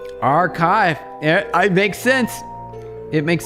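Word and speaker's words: arXiv: Like the white papers are Arcsiv. Uh I've seen a lot of these. Yeah. It's basically a giant repository of white papers. Enlighten us, Neva. It's pronounced archive.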